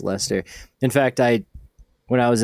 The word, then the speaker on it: Leicester: I don't really know how to Oh, properly Lester. pronounce it. Yeah. We'll ask Stefan Milo. Yeah. I think he had corrected me on it. It's Lester.